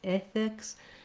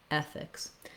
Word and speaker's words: ethics: In American English, it's a very relaxed, lax sound, eh. So it's the same sound we have in words like red, or then, or again, or even the word said. Thinking of it as the letter E and this relaxed sound looks like this, the symbol, rather than an A sound, not ethics, but ethics.